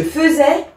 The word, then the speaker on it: faisais: c'est ent donc voilà on essaiera de bien retenir que même si on voit un i on entend e je faisais je faisais il elle